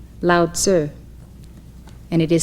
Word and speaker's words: Lao Tzu: are studying his writings many of you have commonly heard his name pronounced lao tzu but it is correctly said lao sir and it is spelled